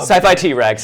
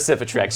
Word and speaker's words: Sci-Fi T-Rex: Sci-Fi T-Rex instead of Cifitrex.